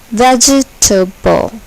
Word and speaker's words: vegetable: Vegetable. Emphasis. Emphasis. Here, the first syllable is accented.